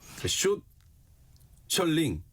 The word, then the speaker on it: 숏셜링: 숏 셜링. 네.